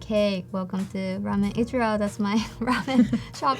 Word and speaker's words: Ichiro: Yeah, Ichiro.